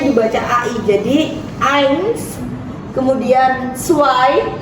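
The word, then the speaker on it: zwei: Ai jadi Ain kemudian suai ingat-ingat Z tidak dibaca Z tapi dibaca seperti agak c caiai kemudianai jadi u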